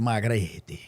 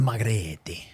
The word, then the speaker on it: margherita: You get the Margarita. No, the margherita. Say it with the music. The margherita pizza. Okay. That's how you say It's it. like I'm there. Yeah, Is that how they say it? that's how the Italians say it.